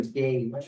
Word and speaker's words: gauge: Then there's a gauge, which rhymes with page one, and then this page rhymes with page.